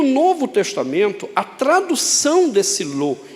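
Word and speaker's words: לא: Em hebraico há uma palavra, um advérbio de negação, que nós pronunciamos como lo.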